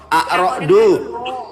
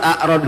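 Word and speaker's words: Ar-Ra'd: Quran surat A'rad gak ngerti. Arad mana ada dibacanya arad. Di dalam huruf Arab itu nggak ada ra, adanya ro, jeder.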